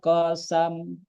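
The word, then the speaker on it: قسم: mungkin bacanya hal fialika qosam mungkin begitu begitu ya. Jadi seperti itu ya. Jadi tidak qosamun ya, tapi qosam.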